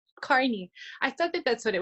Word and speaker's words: Carney: How did you pronounce the name again, real quick, Brandon? Lessard? No, your character's name. Oh, Carney. It's Carney.